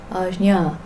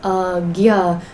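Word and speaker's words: ājñā: I'm doing it too much. Just a tiny touch. Ajna. But it's still there, because it's not anya, because that would be another letter. Just nya. Ajna. Okay. In tradition, it's sometimes pronounced as agya, but not in the ancient Vedic tradition. That's more recent chanting.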